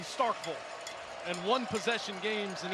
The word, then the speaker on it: Starkville: how you want it where I come from they pronounce the second syllable V not Knoxville or Starkville Knoxville and Starkville and one possession games